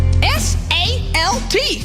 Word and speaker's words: salt: l k is walk s a l t spells salt now that L makes a sound no doubt I'd